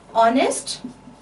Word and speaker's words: honest: H remains silent there and you start it with a vowel sound. For example, honest or our or here.